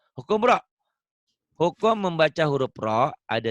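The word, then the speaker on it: راء: Hukum membaca huruf roh ada 3 macam. Yang pertama, tafkhim. Apa kau bilang? Ulang. Tafkhim. Tafkhim. Huruf ro ini kan tulisannya ra ya, dibacanya o ya, ro jangan ra ya.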